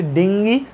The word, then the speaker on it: ডেঙ্গি: সো ডেঙ্গি আসলে একটা virus গঠিত রোগ, এটাকে ডেঙ্গি ডেঙ্গু দুইটাই বলে। ডেঙ্গুর পাশে দেখবো বলা আছে এটা আসল উচ্চারণ আসলে ডেঙ্গি, আমরা উচ্চারণ করি আসলে ডেঙ্গু।